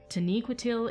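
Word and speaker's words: Taniquetil: land of the valar tenecoitil is uh or taniquitil i always say it wrong taniqatu taniquitil is the snow white peak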